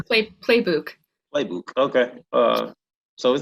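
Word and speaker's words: Plebuch: of information okay uh oh alice collins uh blue book is that am i pronouncing that word her name right no it's close it's play playbook playbook okay uh so is that an irish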